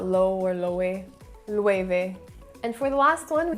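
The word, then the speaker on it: Loewe: at first as well so it's low or low a it should be pronounced with time and as i shop more and more for this brand i realized it was pronounced lueve now because my spanish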